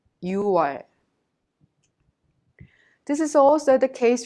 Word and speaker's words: 유월: If you add 월 to 육, the number 6, it becomes 육월, but we don't pronounce it 육월, just you pronounce it 유월. 유월.